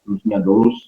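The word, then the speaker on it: δοῦλος: Dulus bacanya dulus.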